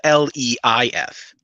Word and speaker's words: Leif: Also, his name is spelled Leif.